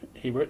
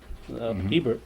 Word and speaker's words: Hebert: And of course, Hebert is the French Yeah. pronunciation of Hebert, which is anglicized.